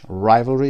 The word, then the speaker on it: rivalry: نمبر 3 یک اسم هست competition between two people، رقابت بین دو نفر هست که گفتیم rivalry هست، تلفظش rivalry، استرس در قسمت اول را، rivalry رقابت.